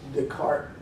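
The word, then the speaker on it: Descartes: to another French philosopher whose last name was de cart which is des CA r te s depart at some point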